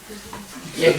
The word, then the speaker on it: yajna: in a proper way is also called a yajna. И использование секса так, как положено, в соответствии с законами природы, называется ягья. Тоже является ягной. Yes, the welfare of creation. Yajna The is welfare of creation.